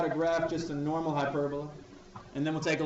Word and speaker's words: hyperbola: Let's talk about hyperbolas.